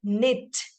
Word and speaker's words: knit: KN K is silent words like knit K is silent Nick Nick the n